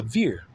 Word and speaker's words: Vere: He's a veer.